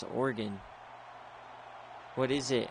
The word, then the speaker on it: Oregon: But Oregon is still 2 syllables. Oregon. Oregon. Yeah. They're both 2 syllables.